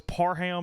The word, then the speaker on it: Parham: I'm bad about restaurants of wanting to give a different name a lot of times because nobody can ever pronounce Parham. Oh, really? Yeah, it's Parham, and it drives me insane.